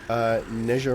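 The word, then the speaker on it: 哪吒: Pronounced more like Neja? Neja? Neja! Ah, okay, that's a yeah. If that's accurate, that's a much better explanation of it. Thank you. Neja. That sounds right.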